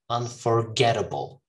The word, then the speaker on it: unforgettable: Now, this is the stressed syllable. Unforgettable. Okay? Gettable. Gettable. All right?